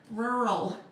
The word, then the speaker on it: rural: It's something about those two R's, one after the other. Rural. You have to enunciate that.